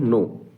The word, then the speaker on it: know: कि नो, इसको पढ़ते कि नो थोड़ी पढ़ते हैं, इसको पढ़ते हैं नो। के साइलेंट रहता है।